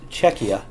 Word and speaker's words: Czechia: Jacob from the nobodies I keep on want to say Czech Republic but it is it's Czechia is how you say it now they change